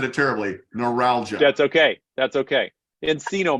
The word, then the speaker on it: neuralgia: you for correcting me I said it terribly neuralgia that's okay that's okay Encino Man yes oh